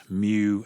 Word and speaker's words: mu: density curve we use mu the greek letter mu it's pronounced mu like mu mu and it's the